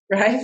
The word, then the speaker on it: Raif: In today's episode, we have Raif. Am I pronouncing that correctly? Yeah, that's right. Raif and Connie.